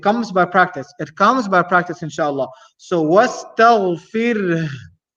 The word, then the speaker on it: واستغفر: So wastaghfir. The sound of ha is still there at the end. So you have to make sure you're pronouncing it.